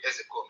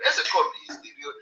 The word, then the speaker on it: Ezekome: People are laughing when I call him Ezekome. Ezekome is the pronunciation. Other people don't know. They come and they pronounce his name and adding K, Ezekome, and they say it's Ezekome. It's not Ezekome.